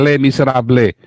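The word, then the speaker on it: Les Misérables: itu Woi inget filmnya Itu kalau tulisannya les miserables Kalau bacanya katanya Le miserably iya lemnya bukan desainer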